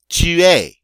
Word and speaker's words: tu es: So if I want to say I am in French, I say je suis. Notice the final S is not pronounced.